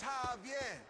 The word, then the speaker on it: Javier: don't get it it's javier it's pronounced like an h have yet yeah what